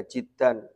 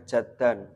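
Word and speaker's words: جدًّا: bab yang keenam muntasiron Jiddan bikasril Jimi kelawan kasr jimnya Jiddan Bukan dibaca jaddan kalau jidun maknanya apa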